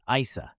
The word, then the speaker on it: Isa: possibly Scandinavian or gothic in these languages the name is pronounced Isa meaning ice or water in